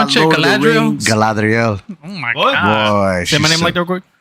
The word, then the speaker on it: Galadriel: in the books, Galadriel's this Galadriel.